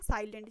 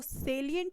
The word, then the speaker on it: salient: तो सेलिएंट हम इसको क्या पढ़ते हैं, साइलेंट। जैसे मान लीजिए सेलिएंट feature of a good person, तो हम उसको सेलिएंट की जगह साइलेंट पढ़ते हैं। तो वो सेलिएंट होता है और सेलिएंट का मतलब